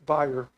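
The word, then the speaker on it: Bayer: Uh this is Dr. uh Bryce Byer. That's how he pronounced his name.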